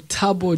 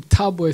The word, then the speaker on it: Thabo: didn't want to attempt okay my name's um taboo yes yes that is from it's uh my first name taboy south african means happiness oh wow my son